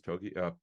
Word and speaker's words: Togiai: Correct pronunciation is Togiai.